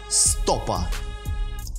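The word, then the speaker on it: stopa: стопа стопах по-польски будет stope stope просто ударение ставить и на другой склад не на последней она 1 stope stope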